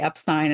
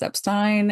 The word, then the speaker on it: Epstein: that verified again that people would say Epstein in his presence that is how he wanted it pronounced because he didn't correct them and Brian would have corrected them so yes it is Epstein and that is it